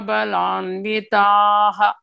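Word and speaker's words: बलान्वितः: After TAH, there is a dot under H. That means before that, vowel is long vowel, A. So, you have to pronounce it as Balanvitaha.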